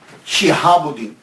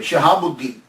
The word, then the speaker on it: شہاب الدین: نام عمر ہے، لیکن شہاب الدین، شین کے نیچے زیر، شہاب الدین، شہاب الحق والدین، اور